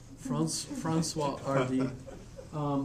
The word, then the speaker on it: Françoise Hardy: Her name's Francois Hardy. RD, yeah. Oh, not D, that's right, you don't pronounce it. Yeah, it's French, so It's not Henry, it's Henri. Francois RD.